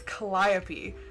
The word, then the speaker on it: Calliope: did the whole like Google will read it, and it's Calliope, and I was like, oh, it's like that makes way more sense than what I was imagining in my head. Because I read somewhere they're like, oh, it's pronounced kind of like Penelope.